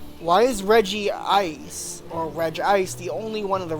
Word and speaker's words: Regice: Regice. Reg. Reg Ice. No. I'm pronouncing it as G ice.